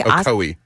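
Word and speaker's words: Ocoee: Um he was in I don't know how to say the name of it but Oko Okoi Tennessee. Okoi.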